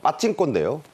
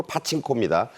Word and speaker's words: 파친코: 본편이 나오고 있는 어 파친코 그러니까 빠칭코요 어 미국식 발음으로 파친코 시즌 2가 이런 케이스에